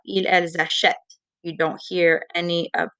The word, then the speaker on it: achètent: But if you say it properly, the ENT is silent, which is why we need the accent grave. Ils, elles achètent.